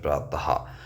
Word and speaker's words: प्रातः: जैसे कि मैंने यहां पर लिखा प्रातः तो ये विसर्ग इस तरीके से लगाया जाता है। ठीक है? जो कि हा के समान एक तरीके से होता है। इसका उच्चारण देता है प्रातः।